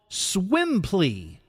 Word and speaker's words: Swimply: downloaded the app it's called swim plea like simply but it's spelled swimply and basically what happens